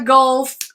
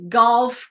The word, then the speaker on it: golf: tennis court course course this one is a Gulf sorry golf course but you might you might all I've